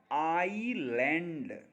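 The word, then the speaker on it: island: आइलैंड यानी कि एस को नहीं बोल रहे हैं। इसीलिए एस साइलेंट है।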